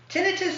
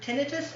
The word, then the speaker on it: tinnitus: Tinnitus has actually two pronunciations. Is it one's American, one's Canadian? Because I've heard tinnitus and I've heard tinnitus.